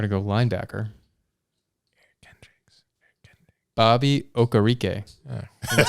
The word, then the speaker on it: Okereke: Bobby Okereke.